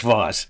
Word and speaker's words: Voss: Is say Miss Ross. Say her name. Ross. Voss. I mean Voss. Screw that. Take two. Ross or Voss. Either one. No, it's Voss.